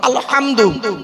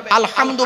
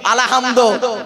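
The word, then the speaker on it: الحمد: সূরা ফাতিহা পড়ি আলহামদুলিল্লাহি রাব্বিল আলামিন, আলহামদু, অনুরোধ করে বলছি উচ্চারণটা ঠিক করুন। আলহামদু গলার ভেতর থেকে এটা উচ্চারণ করবেন। আলহামদু মানে হচ্ছে সমস্ত প্রশংসা তোমার আল্লাহ, সমস্ত প্রশংসা আল্লাহ। আর আমরা কি বলি উচ্চারণ করতে গিয়ে? আলহামদু এর মানে শুনবেন, সমস্ত ছেঁড়া জামা কাপড় আল্লাহ তোমার।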